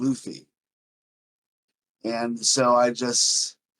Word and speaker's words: Luffy: got used to saying Luffy and so I just say it as I think it should be pronounced and I'm wrong I mean we gave you a pneumonic Luffy is Goofy and I do want